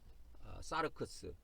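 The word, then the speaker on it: σάρξ: 도 이 처럼 옆 으로 기울어진 형태 로 발음 됩니다 . * 사르크스 *.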